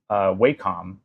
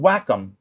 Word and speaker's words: Wacom: So I'm working on what's called a Cintiq by, I like to say Wacom, but that's not how it's pronounced. It's called Wacom, and I hate that.